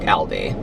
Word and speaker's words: Aldi: Okay, Annette said we pronounce Aldi like that in Denmark, Aldi.